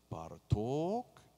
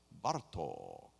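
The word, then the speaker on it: Bartók: lot of examples and since hungarian speech often the accent in a word is on the first syllable it's don't say par talk it's bartok it's kodai it's a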